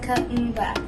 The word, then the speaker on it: Kuumba: I want to tell you about the 6th principle of Kwanzaa, which is Kuumba. It is pronounced Kuumba. Kuumba means creativity.